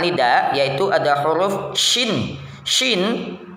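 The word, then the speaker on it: شين: yaitu ada huruf syin syin cara bacanya Yang pertama angkat lidah tengah ke arah langit-langit keras tanpa menyentuh langit-langit itu ya sya sya sya sya e gitu ya kemudian yang berikutnya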